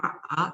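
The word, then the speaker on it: 马: And when you change into the third tone, become ma, that means horse. And finally, to scold, it's ma.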